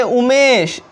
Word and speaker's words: Umesh: अब देखिए दोस्तों, एग्जाम्पल में है उमेश, UMESH। तो दोस्तों ये जो यू है इसका उच्चारण ऊ के जैसा हो रहा है ना, हो रहा है कि नहीं, है ना।